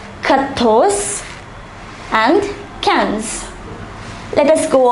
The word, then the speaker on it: quatorze: 11 is onze, douze, treize, quatorze and quinze.